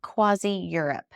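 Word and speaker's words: CroisiEurope: And they're called Quasi Europe. It's spelled Croisi.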